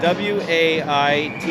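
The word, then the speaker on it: Waite: It's weight with an E on the end. W A I T E. Wait. Wait.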